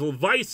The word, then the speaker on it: Vyce: took from that is let's give me a name that's one syllable yo something yo it's very easy to say easy to remember and we we brainstormed a couple of names and vice was what we settled on but spelled with a Y because poor literacy is